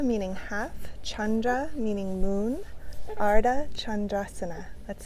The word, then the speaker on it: Ardha Chandrasana: Crescent moon is often called Ardha Chandrasana. Ardha meaning half, Chandra meaning moon, Ardha Chandrasana. Let's say it together. Ardha Chandrasana.